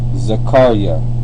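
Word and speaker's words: זכריה: most high remembers and the way you pronounce it is zakara Zar there connector between the K and the r zakara zakar itself means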